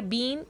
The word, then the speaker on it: been: दूसरा, अगर हम प्रोनाउंसिएशन की बात करें तो जब हम बीन कहते हैं सेंटेंस में, जब हम बीन को किसी सेंटेंस में यूज़ करते हैं तो उसे बिन पढ़ते हैं, बिन।